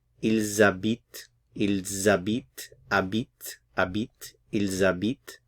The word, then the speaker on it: habitent: The H is silent, so you have a little liaison here. Ils habitent, habite, ils habitent à Paris.